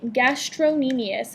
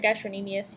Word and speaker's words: gastrocnemius: First off, we have the gastrocnemius, and you'll notice that on your list it's spelled gastrocnemius. This is not a spelling error. It's just people tend to pronounce it gastrocnemius, but pronounce it however you need to remember how to spell it.